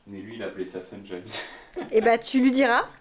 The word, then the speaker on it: Saint-James: Tu lui diras que c'est le nom d'une ville et ça se prononce Saint-James.